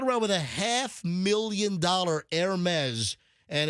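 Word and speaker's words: Hermès: JLo walking around with a half million Hermes and it's H E Res. You know people might think oh it's Hermes. No, it's it's French. It's pronounced it's Hermes is how you say it.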